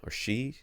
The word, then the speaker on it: HSU: So if HSU, or she, I don't remember how to say it. They just say shoe on their website.